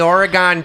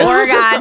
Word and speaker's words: Oregon: on the Oregon Trail. Oregon, because that's how you say it when you're from Wisconsin. Oregon.